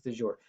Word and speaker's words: de jure: Up until 1965, the civil rights movement was fighting something called de jure segregation, or de jure, depending on your pronunciation, but it's de jure.